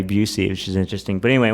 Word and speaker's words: Bucci: My grandfather told me to pronounce it the American way, Busey, which is interesting.